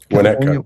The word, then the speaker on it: Winnetka: The pronunciation of, is it Winnetka? Is that what it is? Winnetka, yeah.